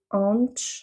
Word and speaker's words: antes: Et là, le antes, le S à la fin, on va le reprononcer ch parce qu'après on a un D, donc on ne fait pas la liaison.